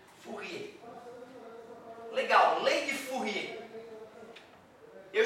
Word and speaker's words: Fourier: Vocês não pronunciam a vogal, né? Fourier.